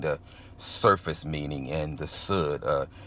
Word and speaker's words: Sud: surface meaning, and the Sud, spelled S-U-D and pronounced like wood, being the 4th level, and the mystery, or the hidden thing.